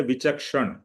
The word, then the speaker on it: विचक्षण: जो विक्षण मतलब उसका उसका प्रोनाउंसिएशन है विचक्षण विचक्षण उसका क्या मीनिंग होता